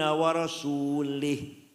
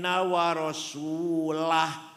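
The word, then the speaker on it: وَرَسُولُهُ: Wa annallaha bari'um minal musyrikin wa rasulih. Allah tidak melindungi orang musyrik dan tidak melindungi Rasulullah. Salah. Yang benar bacanya wa annallaha bari'um minal musyrikin wa rasulah.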